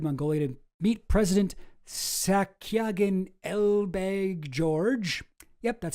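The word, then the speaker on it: Elbegdorj: 1 month after leaving his post as Israel's defense minister, Ehud Barak visited Mongolia to meet President Sakyagan Elbeg George.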